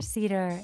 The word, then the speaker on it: Sieder: name is an Cedar and I am sounds like the tree but it's it's spelled s i e d r um and I'm available